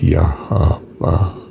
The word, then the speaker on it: Yahweh: In fact, I think the pronunciation should be, and I don't think anyone else thinks this, but it's Yahweh.